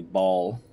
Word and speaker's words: Baal: You find out that your father is actually Baal, or Baal, depending on how you actually pronounce that.